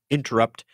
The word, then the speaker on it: Intrupt: And his startup company named Interrupt, and of course it's spelled in that wonderful internet way, INTRUPT, Interrupt.